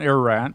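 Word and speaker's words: Ararat: physically tracked up Mount ER erat did I pronounce that correctly yeah you did yeah mount erat it's an Eastern Turkey it's the the high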